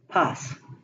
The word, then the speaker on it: paz: The zeta is the Z, and it is pronounced as an S, not as a Z. They don't have the Z sound ever. So we have Zorilla, paz.